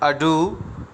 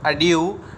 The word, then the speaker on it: adieu: इसको हम to type से प्रोनाउंस करते हैं। अडू अमेरिकन इंग्लिश में होता है और अड्यू ब्रिटिश इंग्लिश में होता है।